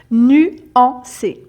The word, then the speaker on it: nuancer: verbe nu en nuanc donc là la difficulté c'est le nu hein vous rappelez pour prononcer le U il faut prononcer un I et vous vous faites le son du I et vous fermez et la bouche iu iu nu nuancer nuancé et donc nuancer c'est